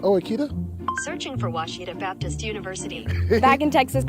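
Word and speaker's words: Ouachita: Back in Texas, everybody pronounces it Witchita, but really it's how would you pronounce it? It's Baptist University. Get it right. It's people. It's wash. Wash it off.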